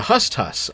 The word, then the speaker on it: HSTS: The second is the homosexual transsexual or the HSTS pronounced as hust hus in the meme.